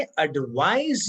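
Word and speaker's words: advise: ध्यान रहे दोनों शब्दों में जो उच्चारण है वो थोड़ा डिफरेंस है। एडवाइज में ज साउंड आएगा और एडवाइस में स का साउंड आएगा। एडवाइस नाउन है, एडवाइस वर्ब है।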